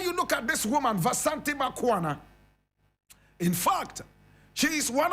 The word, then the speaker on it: Vasanti Makwana: My brother, my sister, today I'm telling you the story of a woman by name, oh my God have mercy, Vasanti Makwana. Vasanti Makwana.